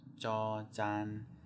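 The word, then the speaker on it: จ จาน: Okay, so next we have jaw jan, jaw jan. It's quite like a J in English.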